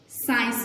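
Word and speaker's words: science: साइंस में आई से पहले सी आ रहा है तो हम सी को प्रोनाउंस नहीं करेंगे, साइंस।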